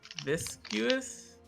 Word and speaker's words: viscous: Well, to be fair, there is a U in there when you spell it, but you just don't pronounce it.